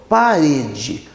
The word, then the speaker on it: parede: escrevi aqui, ó, parede, o re, que é a sílaba do meio, no caso a penúltima sílaba, é uma sílaba tônica, é uma sílaba forte. Parede. Então, o pá e o d são sílabas átonas.